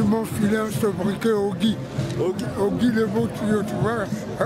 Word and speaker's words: Ogy: les gens ils m'ont filé un ce briquet Ogy Ogy le BE tu vois merci Ogy Ogy Ogy ça s'écrit comment Ogy oua o g y Ogy